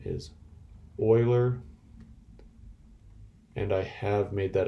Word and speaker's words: Euler: it's named after this famous mathematician leonhard euler pronunciation on this name is euler and i have made that a test question